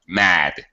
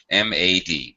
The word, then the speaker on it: mad: Leave your tongue high in your mouth. So even a simple word like, I don't know, mad, M-A-D, mad, simple. Mad. He was mad at her. Mad at her. Mad. What I'm doing is my tongue is still on the top of my mouth.